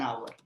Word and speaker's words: hour: scientific hour in our h is silent so it would be an hour right then n would